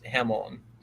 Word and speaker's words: jambon: sounds a lot like jambon which is French for H it's hamon the B is not pronounced j j a m